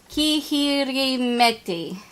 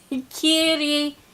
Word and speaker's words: Kirihimeti: Meri Kihirimeti. Kirihimeti.